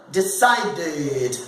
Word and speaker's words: decided: Quando eu falo passado, decided, vai ter 3 sílabas.